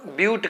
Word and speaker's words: but: कई लोग ब्यूट है इसको बट पढ़ देते हैं, गलती हो जाता है। जो कंपटीशन की तैयारी करते हैं बच्चे, जो आर्ट ग्रुप से आए रहते हैं, उनको समझ में ही नहीं आता है कि ब्यूट पढ़ना है कि बट पढ़ना है।